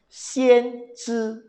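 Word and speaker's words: 先知: Bacanya sangat menarik. Xian Zhi.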